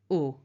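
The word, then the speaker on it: aux: So we take au instead. It sounds the same as the masculine version, but you'll notice the spelling is slightly different with an X.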